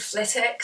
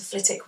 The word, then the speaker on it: Flitwick: And so we'd go to Flitwick Wood. Harry Potter fans, by the way, the W is silent, just put that out there.